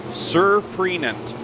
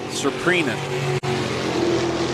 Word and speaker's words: Surprenant: after Brighton and said we're pronouncing the last name wrong. It's Surprenant. Surprenant.